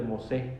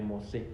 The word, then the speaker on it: Mosé: No, pero es Mosé, sin la última sí. Bueno, en español ese era el fuerte de Santa Teresa de Mosé, con acento en la E, Mosé.